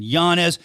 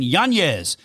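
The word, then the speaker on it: Yanez: right he but see they don't put the Tity over his name that's why I've been mispronouncing it forever and nobody's been saying it right Adrien yanes taking on Daniel Marcos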